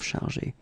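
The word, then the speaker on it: chargés: at the end of chargé. Okay, same thing as we had previously. Phonetically, it doesn't exist, so basically you don't pronounce it, but you've got to write it.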